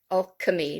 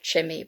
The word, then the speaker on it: alchemy: chemicals all right so alk alchemy not of chemi but all right so that's the c derivation which has long ago greek origins okay so you